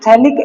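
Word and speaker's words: phthalic: तो इसको मैं बोलूंगा यह जो ऊपर वाला पार्ट है ना बेटा this is थैलिक anhydride. PA is silent. पीए इसमें साइलेंट होता है।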